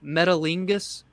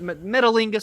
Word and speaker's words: Metalingus: Metalingus. It's metal, and then Ingus is like the right. So I'm assuming it's Okay. Metalingus, something like that.